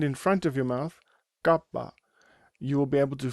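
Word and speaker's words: κάππα: Next letter is kapa. Kapa. This is said without a puff of air coming out of your mouth.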